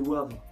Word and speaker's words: Wavre: ville en wallonie que perdre car français s'est prononcé c'est la ville de wavre c'est pas vendre ses boivent en plus j'ai